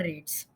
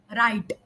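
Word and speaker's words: rates: Lower human error रेट्स। Okay, मैंने, देखो अब मैं बोल रहा हूँ राइट, राइट, पर मेरा असली प्रोनाउंसिएशन होना चाहिए था रेट।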